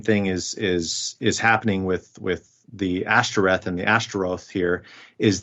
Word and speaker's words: Ashtoreth: you're changing the vowels to match with a Hebrew term, boshet, which is the word for shame. Yeah, the O and the E vowel, yeah. Exactly. So now whenever you as an Israelite are pronouncing the Ashtoreth or Ashtaroth, you're reminded that this is shameful because you're using those vowels, which correspond to the word for shame, for this deity.